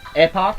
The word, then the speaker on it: Epoch: Epoch is not pronounced as epic.